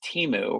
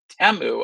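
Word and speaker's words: Temu: Now, if you've always heard it as Teeu or said it as Teeu, you are completely understandable because they didn't really explain to anybody how to say their name. But then they did um Super Bowl commercials where they said, "Enjoy Teu." And you're like, "Oh, I've been saying it wrong the entire time." Yeah. So, it's Teu apparently.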